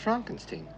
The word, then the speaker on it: Frankenstein: No, it's pronounced Frankenstein.